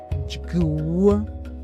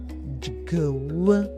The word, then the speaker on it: dyw: The Shona letters D, Y, W, if spelt phonetically in English, would be J, G, W. They would make the sound Djwu, Djwu.